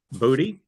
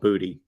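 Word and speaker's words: Boutte: that everybody calls him that that's his name booty that's his name it's actually pronounced boots a butt no it's not no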